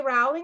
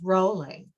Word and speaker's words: Rowling: Rowling room. Lucy, it's pronounced rolling.